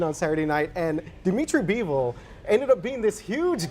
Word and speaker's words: Bivol: Is that who you pronounce Dimitri his? Bivol, yep.